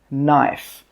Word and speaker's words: knife: Knife. The K in this word is silent. That means we don't pronounce it.